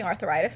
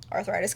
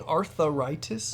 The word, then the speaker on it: arthritis: it doesn't give me arthritis or something but I'm also wondering if it combats getting arthritis cuz I'm not you do are you saying arthitis arthritis no I you said arthitis four syllables arthritis I don't think so